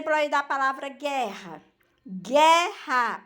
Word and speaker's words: guerra: da palavra guerra guerra Observe que eu uso ué né e eu e o está entre o g e o é só que eu não pronunciou guerra eu pronuncio guerra Então nesse caso O O ele não é para anunciado quer eu pronuncio Gero